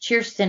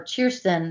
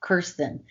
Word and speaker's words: Kirsten: sassy and she's like my name is pronounced cheerston in scandinavia so we had to call her cheerston not kirsten so that kind of